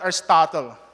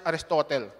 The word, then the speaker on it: Aristotle: the Greek philosopher Aristotle well my my professor would Uh would pronounce that Aristotle for others aristotel Aristotle would be the